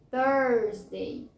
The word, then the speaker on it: Thursday: Tuesday, Tuesday, terça-feira simples, Tuesday, não tem R. Quinta-feira tem o R, Thursday, Thursday.